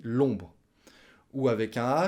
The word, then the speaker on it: l'ombre: La ombre, on dit l'ombre.